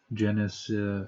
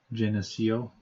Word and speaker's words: Geneseo: the path of this Genesis uh Geneseo Paul just mispronouncing that you're also arguably in